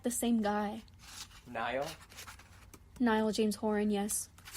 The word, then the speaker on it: Niall: Wait, me and her did like the same guy, Niall? Niall James Horan. Yes. Do you ever pronounce it Neil sometimes just to piss off people who like him?